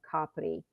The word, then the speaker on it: Capri: Of course, most people are familiar with Capri or Capri, as the Americans pronounce it. But Ischia is right across the water, and it's actually 4 times the size of Capri.